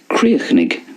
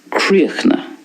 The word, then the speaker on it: críochnaigh: So I'm pronouncing it the way it's pronounced in Munster. Críochnaigh. In Connacht then, we have more of a silence at the end of that word. It goes like this. Críochna. Críochna. And in Ulster, creeny. Creeny. So quite a difference there in the three ways of pronouncing that, as you can see.